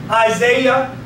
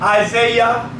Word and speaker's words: Isaiah: you'll still hear it Isaiah Zachariah so whenever you see the I a at the end of a name it always pronounced as the yah Jeremiah Zachariah Obadiah Saints